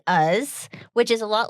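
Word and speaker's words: Uz: helpful because the town in Nebraska is spelled U-Z. And in my head, I was saying like ooze or like, I don't know what I was thinking, but it is us, which is a lot like Oz.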